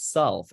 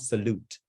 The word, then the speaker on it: solve: Right, and let's remember it's solve, not salute.